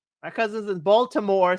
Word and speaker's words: Baltimore: Yeah, they're from Baltimore. I hope I said that right. April be Baltimore. Our cousins in Baltimore say it's not we don't pronounce the T.